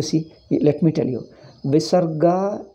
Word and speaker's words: visarga: let me tell you visarga is pronounced after ah if it comes it is pronounced as aha after e it comes e after o it comes oh comes after hari you pronounce as hari he not a hariha visarga is not always ha hariha you don't say